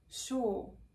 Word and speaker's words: sure: short words like shaw so it sounds exactly like a seashore and in words like poor pure cure things like that so it's basically the same or long or sound as you can find in other words like war okay let me try sure yeah that's quite good so the tongue is really low and pulled back and the lips are rounded it tends to be